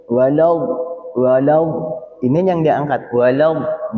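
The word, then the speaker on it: وَلَد: Nah, tapi kalau do itu jangan sampai kita walad wal wad apalagi sampai kembungnya geter. Wal. Nah, ini yang kata para ulama ini salah pengucapan. Seolah-olah kita mencampur dua tanda, satu fathah, satu damah. Padahal huruf do itu diucapkan dengan fatah atau domah? Fatah. Fatah. Maka tidak boleh dia dimonyongkan.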